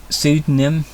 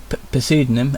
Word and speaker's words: pseudonym: She used a pseudonym, pseudonym, I think a pseudonym with a silent P, while talking to Chris, and also, unwisely, shared other pieces of her personal information with him.